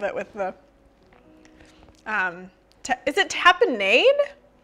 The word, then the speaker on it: tapenade: I don't love it with the, is it tapenade? Tapenade. Nade? I don't know, guys. Hey, Google. How do you pronounce T-A-P-I-N-A-D-E?